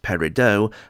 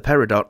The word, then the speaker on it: Peridot: Straight off the bat, I know that it's supposed to be pronounced Peridot, but the people of Hull say Peridot, and so that's how she will be referred to in this video.